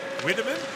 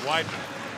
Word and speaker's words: Weidman: He kept asking, how do you say it? Wideman? No, Weidman.